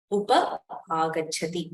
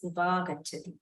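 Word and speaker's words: upāgacchati: You cannot say I will pronounce it as upa-agachati. You have to say it as upagachati.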